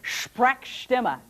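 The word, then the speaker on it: Sprechstimme: it for you later everybody say it Shrek stima don't spit okay and I'm just going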